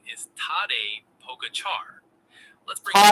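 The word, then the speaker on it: Tadej Pogačar: Char sounds like char like charred food.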